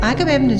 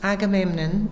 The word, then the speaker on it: Agamemnon: So, Agamemnon Street fascinated me because it's got four syllables to its name and it sounded quite like the song Aadoo.